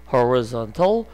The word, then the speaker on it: horizontal: 발음이 horizon 이거는 horizontal 이렇게 발음이 됩니다.